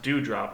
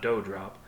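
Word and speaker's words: Doughdrop: her backstage is dewdrop spelled d-o-u-g-h-d-r-o-p and specifically notes pronounced dewdrop not doe drop both of those are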